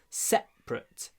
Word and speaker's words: separate: Мы говорим separate как ate в конце, а separate как cut в конце. Separate, separate. Все равно ударение на первом слоге, а вот ate в конце по-другому произносится.